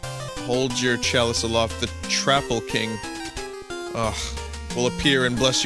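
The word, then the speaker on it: Troupple: Oh, and he gets quite upset if you say it like Troople. He doesn't like troops. It's more like council or doubtful. The Trapple King.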